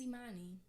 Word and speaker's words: Imani: oh my name is Imani I could have said e not uh but I've never corrected